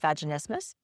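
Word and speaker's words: vaginismus: And it is an expanding vaginal dilator that is treating a pelvic floor condition called vaginismas. Rhymes with Christmas. That's how you can remember it.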